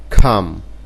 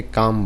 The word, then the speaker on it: come: যেমন খাম, এটা COME, এটা অনেকে কাম বলে, এটার উচ্চারণ হবে খাম, খয়ের উচ্চারণ হবে খাম।